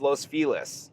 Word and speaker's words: Los Feliz: I guess the family that it's named after was pronounced Los Feliz.